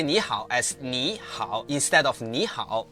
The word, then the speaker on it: 你好: When 2 third tones appears together, the first one changes into the second tone, the rising tone. For example, in 你好, which means hello, the first word is actually pronounced as 你好.